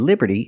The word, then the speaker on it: Liberty: of Liberty and we see the T and Liberty is between vowels so it's pronounced like a fast D Liberty Liberty not Liberty but Liberty the Statue of Liberty and